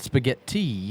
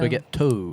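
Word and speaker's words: spagheto: Not spaghetti, but spaghettto.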